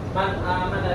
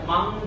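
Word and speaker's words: مَنْ آمَنَ: Contohnya man amana, man amana di sini dibaca jelas man amana, karena di sini nun sukun ini bertemu dengan hamzah. Jadi ini termasuknya idhar halqi. Jadi terang dibacanya, tidak dengung, tidak mang, tidak apa, dibaca jelas man amana.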